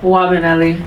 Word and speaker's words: Nwabeli: I'm here with Nwabeli. What is it again? Wabanelli. The N is silent.